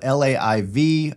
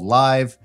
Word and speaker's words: LAiV: so the live DC you spell it lav but it's actually called live is a beautiful stunning